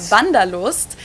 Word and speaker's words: Wanderlust: kind of an old-fashioned German word that we pronounce vandalus and it's literally the desire to wander so